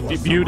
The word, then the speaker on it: Butte: ] Rolling Stock here Butte is that how you pronounce that you cute yes that's Mike that's that's in Montana isn't it yes that is Butte is in Montana like